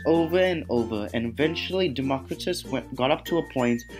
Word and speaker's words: Democritus: Democritus.